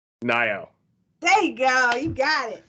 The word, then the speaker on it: Nayo: It's I'm gonna say the name wrong. Nayo.